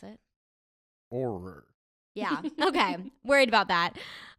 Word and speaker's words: Auror: How do you pronounce it? Auror.